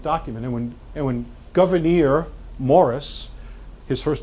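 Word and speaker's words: Gouverneur: Pennsylvania it is not that's his name govern Morris um we get the pronunciation from Abigail Adams who kind of used to write phonetically historians still debate the pronunciation but I think hers is probably as close as we're going to get Governor Morris writes the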